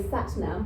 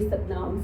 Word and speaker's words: Satnam: So in England, the Anglo way, they say Satnam, but we all know from our Indian backgrounds, it is actually Satnam.